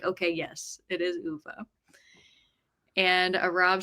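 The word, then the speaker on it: Ove: and I was like, "Okay, yes, it is Uva."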